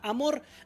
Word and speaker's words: amor: Aquí tenemos otros ejemplos, como la palabra amor. Amor. ¿Dónde está la sílaba tónica? En mor. Esta no se tilda porque termina en R.